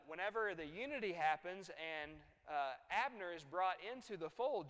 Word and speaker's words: Abner: name is ah nerd so that's Abner two syllables right so he kills Abner